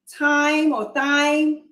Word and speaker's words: Thyme: Thyme, yes.